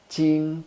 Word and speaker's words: Ching: second tone Jing is in the first tone ching ching ching ching ching the first own so the proper pronunciation of tada Ching is how the gim